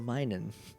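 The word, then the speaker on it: Minun: i n u n well it's minus so minin Min it's it's Plusle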